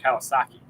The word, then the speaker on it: Kiyosaki: watching some interviews by a gentleman named Robert Kiyosaki.